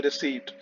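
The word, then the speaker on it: receipt: वह हमारी कहलाती है रेवेन्यू रिसीप्ट इसमें पी साइलेंट रेवेन्यू रिसीप्ट तो वो गुड्स सेल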